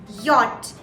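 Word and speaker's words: Jot: what j that's right so j in german sounds nothing like j believe me j is actually pronounced as yacht in german yacht y o t yacht so it sounds more towards a y rather than a j you see what i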